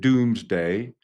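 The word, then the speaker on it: Domesday: It's pronounced doomsday from what they say is that year.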